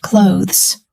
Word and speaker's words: clothes: Clothes has a th sound at the end. Put your tongue gently between your teeth and blow air.